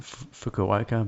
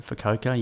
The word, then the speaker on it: Fukuoka: We pronounce it Fukuoka, but they seem to pronounce it Fukuoka.